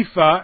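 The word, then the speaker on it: EAFE: the world did x means everybody and the ephah and that's how it's pronounced I didn't make it up ei Fe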